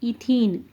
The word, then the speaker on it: ethene: first hydrocarbon starts with ethene. Okay, there ethane we are pronouncing as methane, ethane, pentane, like that. It is ends with ene, that's why we want to pronounce as ene only, that is ethene.